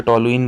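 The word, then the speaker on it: toluene: टॉलुइन कई सारे pronunciation होते हैं, आमतौर से टॉलुइन बोला जाता है।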